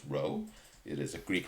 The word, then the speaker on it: rho: greek letter rho so again right this is pronounced row it is a greek letter if it's a